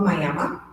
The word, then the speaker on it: Miami: actually a town called Mama it spelled like Miami but it's m because we Oklahoma um